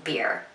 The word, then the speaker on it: bier: a funeral home and this beer instead of being spelled b-e-e-r is spelled b-i-e-r and a beer is